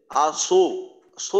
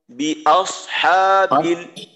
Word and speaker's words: بأصحاب الفيل: إيكنه بأص بأصحى بأصحى এইখানে যদি ঠোঁটটা খোলা রাখা না হয় তো এইখানে ওকারের মধ্যে একটা উচ্চারণ হয়ে যায়, আসো সো ধরনের যেন না হয়, আস হা আস হা বি আস হা বিল বি আস হা বিল।